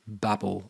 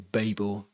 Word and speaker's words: Babel: We're going to change it to Babel or Babel, depending on how you want to pronounce it. I call it Babel, but some people call it Babel, and who cares really how you pronounce it.